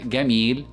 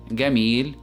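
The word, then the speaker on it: جميل: And now lastly for the word Gamil, Gamil, it has a long vowel yeh that is preceded by letter mim that has kasra below it. That's why it is pronounced as Gamil, Gamil, with a stretched sound as well.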